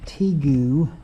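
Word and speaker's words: tegu: says this is an Argentine teu t e g u i guess is how you pronounce it you see his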